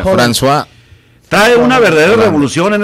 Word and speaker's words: François: ¿Cómo se pronuncia? François.